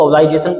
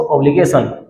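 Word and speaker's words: obligation: और इसका है ऑब्लिगेशन, इसको ऑब्लाइजेशन पढ़ते हैं, इसका भी ध्यान रखें, क्या पढ़ेंगे इसको, ऑब्लिगेशन।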